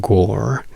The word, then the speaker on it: gore: and understands go but go which is written gore is pronounced gore in American but in English we don't pronounce the r go is a word